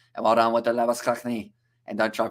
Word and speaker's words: Labuschagne: Because if it's like this Australian cricketer, you'd say Labuschagne. But because it is, I assume, pronounced Afrikaan, it would be Labuschagne, if I'm not wrong.